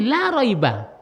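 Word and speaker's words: لا ريب: Sekarang tidak ada alif lamnya, raiban bacanya. Sekarang masuklah ini, la raiba.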